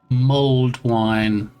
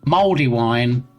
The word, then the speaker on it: mulled: I think what I actually said, and it may have come across wrong in the pronunciation, is mulled wine. Okay. Slightly different. I mean, mouldy wine, you probably don't want to drink.